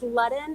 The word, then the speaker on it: Len: tell me your last so it's Len it's sort of like the word sudden but with an so it is len